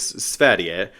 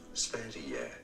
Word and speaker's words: Sverige: Via Instagram, the production company announced that Drag Race Sverige, let me actually confirm that's how you pronounce it. So, this is how you say Sweden in Swedish. Sverige.